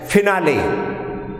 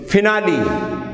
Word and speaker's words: finale: For example, we generally pronounce this word as finale, but actually the right or correct pronunciation of this word is finale. Okay, so here the last E is pronounced as E in finale, recipe, simile.